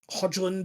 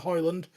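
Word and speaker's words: Højlund: If Hodgland or Hoyland, we've still not really decided as a podcast how we're pronouncing his name, but we're going to go with Hoyland.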